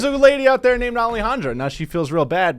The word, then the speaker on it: Alejandra: Alejandra. Alejandra.